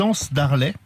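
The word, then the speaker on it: Anses-d'Arlet: Il a aussi profité pour tourner un reportage au village des Anses d'Arlay. C'est comme ça qu'on prononce.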